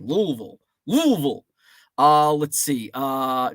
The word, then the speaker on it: Louisville: do you pronounce it I'm a Yankee so I go Louisville I I sound like a like a Yankee Louisville but I've got some friends that live down there it's like the less vowels you use is the more correct pronunciation Louisville Louisville uh let's